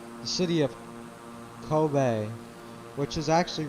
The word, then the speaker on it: Kobe: that we pass by is the kobe tower kobe i think that's actually how you pronounce the kobe tower so it's uh not